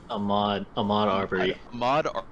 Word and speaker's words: Ahmaud Arbery: How do you pronounce his name? Ahmaud Arbery.